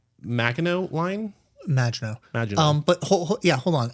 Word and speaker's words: Maginot: And she says, so that I don't end on that note, I want to mention the scene where, how do you pronounce Maginot line? Maginot.